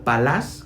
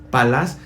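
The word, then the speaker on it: פלס: La palabra considera en el hebreo palás, con acento en la última A, palás, significa pesar, examinar.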